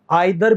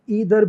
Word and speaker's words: either: अरे मेरे भाइयों समझो, आइदर भी सही है, ईदर भी सही है, दोनों ही प्रोनाउंसिएशन एक्सेप्टेड हैं। बस अंतर क्या है कि आइदर ब्रिटिश इंग्लिश में ज्यादा बोलते हैं, ईदर अमेरिकन इंग्लिश में ज्यादा बोलते हैं।